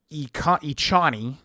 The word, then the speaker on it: Echani: And then we've got strength plus two demolitions plus two echani is how they say it. Achani whatever.